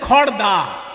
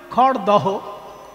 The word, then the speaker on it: খড়দহ: তেমনি খড়দা, আমরা খড়দা বলি কিন্তু লিখতে হয় কি? খড়দহ।